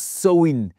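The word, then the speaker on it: Samhain: fête appelée Sahim qu'apparemment au Samin qu'on on prononce Swin.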